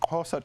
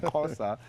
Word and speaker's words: Xhosa: He's a Xhosa from the Xhosa tribe. I'm trying to pronounce the name of the tribe. So and it's got a click.